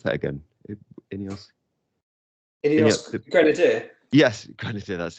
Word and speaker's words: Ineos: How do you pronounce that again? Ineos.